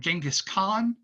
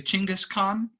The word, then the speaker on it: Chinggis Khan: So the Mongols were led by a guy named Genghis Khan, or more properly, Chinggis Khan. I can't pronounce it perfectly, but something around the lines of Genghis or Chinggis.